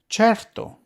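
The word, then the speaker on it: certo: like the wrestler chento which means one 100 cherto which means sure DOL which means sweet but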